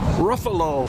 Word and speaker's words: Ruffalo: What What will Mark Ruffalo, however the he pronounces his name right? Ruffalo.